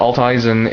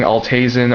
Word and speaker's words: Alt Eisen: note that I I'm I recently found out that alt Isen is the proper I guess pronunciation for it because alt Eisen comes from German which means old iron or scrap iron I confirmed this at